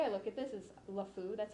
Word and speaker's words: LeFou: like the way I look at this is Lefou that's how you pronounce his name from beating the Beast right